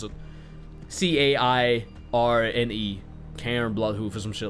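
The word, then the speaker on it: Cairne: he almost lost against Kane Bloodhoof, Kane Bloodhoof. I already forgot how like mention like or pronounce his name. Bane Bloodhoof's father. Cairn Bloodhoof, or some way to like pronounce it. C-A-I-R-N-E.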